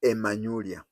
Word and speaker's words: Emanyulia: But among Luhyas, they start with an E. Like Nairobi is called Nairobi. So they have to start with an E. But that E is never written. It is you who pronounce it, place it there. So when I say Manyulia, I mean Emanyulia.